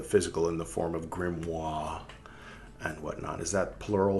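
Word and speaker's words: grimoire: in the form of grimoir and whatnot. Is that plural for grimois? You don't pronounce the R. It's French.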